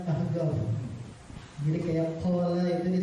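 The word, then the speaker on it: Al-Ahqaf: alahqaf atau kita sebut al-ahgaf Kenapa Soalnya di sana itu orang habrmud bilang qf itu adalah G jadi bila tulisannya alahqaf pakai Q cuma bacanya ahgaf jadi kayak qa itu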